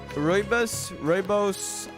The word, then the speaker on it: rooibos: Okay, I don't know how to pronounce this. Rooibos.